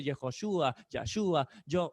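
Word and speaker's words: Yehoshua: dice a donar y no se dice jesús se dice yehoshúa ya ayuda yo o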